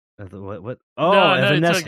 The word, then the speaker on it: Evanescence: Evanscene. What? Oh, no, Evanescence.